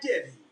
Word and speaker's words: Devy: It's not Dexy, it's just Devy.